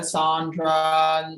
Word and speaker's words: Sandra: some people i mean it's spelled sandra but yeah yeah over the years people said sondra you know yeah i'm